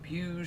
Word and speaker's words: Puig: of them that's debatable according to revzilla they say puge so i guess we'll